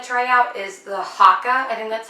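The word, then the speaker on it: Haakaa: I really want to try out is the hakka and that's how you say it I'm really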